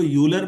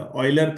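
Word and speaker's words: Euler: हाँ बेटा, इसको यूलर मत पढ़िएगा, ऑयलर थ्योरम। प्रोनाउंसिएशन थोड़ा अपना सुधारिएगा।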